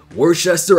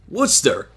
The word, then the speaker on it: Worcester: And apparently it's pronounced Worcester. Like what? So I guess it's one of those words that just spelled more complicated than it should be. Like it doesn't look the way it's actually pronounced, if that makes any sense.